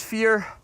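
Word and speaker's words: vier: The German word for four is fear, which you write differently than the word fear in English, but you pronounce it more or less the same.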